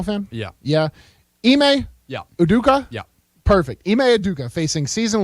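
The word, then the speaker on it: Udoka: Boston Celtics coach now tell me if I'm pronouncing this right devil are you a basketball fan yeah yeah email yeah uduka yeah perfect emeaduka facing season long I don't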